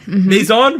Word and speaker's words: Maison: last week dream catchers okay how do i pronounce this maizon yes maison maison yes they picked up the third crown